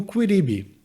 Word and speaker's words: quidam ibi: Então aqui, por exemplo, a gente tem um quidam ibi. Uma pronúncia mais natural em latim, especialmente se tratando de uma música, uma coisa que vai se falar num ritmo mais fluido, seria um quiribi, Seria a perda total dessa vogal final.